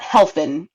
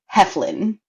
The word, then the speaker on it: Heflin: Sometimes people get the F and the L mixed up. It's not Helfin, it's Heflin.